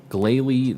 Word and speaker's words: Glalie: shiny hunt every hop hip I see um Glalie that's how it's pronounced I know I just I never said